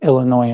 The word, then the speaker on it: Illinois: Now I know to just say Illinois and that's it.